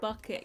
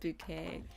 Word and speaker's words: Bucket: Hyacinth bucket, yeah. Hyacinth, no, it's bouquet. Should I call it a bouquet? Yeah, it's pronounced bouquet.